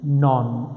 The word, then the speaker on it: non: It's pronounced non. Okay, not none.